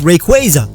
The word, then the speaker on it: Rayquaza: for pronouncing correctly is rayquaza whose name comes from quasar which also doesn't have a Y after the a the biggest problem with